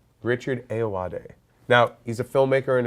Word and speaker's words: Ayoade: Ayoade. Richard Ayoade.